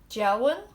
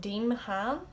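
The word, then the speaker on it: deamhan: I know that one's hard to pronounce, but it's not Deemhan. The DE is like J, and then the MH followed by a broad vowel, which in this case is A, is like a W.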